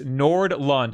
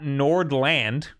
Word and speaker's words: Nordlund: It's Nordlund. I actually said it right. Yeah. Nordlund, not Nordland.